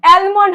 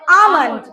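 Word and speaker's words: almond: অ্যালমন্ড হবে না, কি হবে? আমন্ড।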